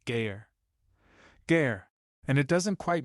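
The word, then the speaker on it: גר: The word is ger, spelled gimel resh, pronounced gayer.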